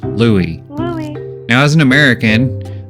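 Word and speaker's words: Luis: L U I S, is actually supposed to be pronounced Louis. Louis. Now, as an American, I'd always read Lewis as Lewis.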